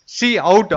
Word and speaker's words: cout: அதாவது பார்த்தீங்கன்னா லெஃப்ட் சைடில் வந்து பார்த்தீங்கன்னா சி அவுட், அதாவது COUT ஃபங்க்ஷன்ஸ் யூஸ் பண்ணுவோம். அதை எப்படி ப்ரொனவுன்ஸ் பண்ணுவோம் அப்படின்னு பார்த்தீங்கன்னா சி அவுட்ன்றதை ப்ரொனவுன்ஸ் பண்ணுவோம்.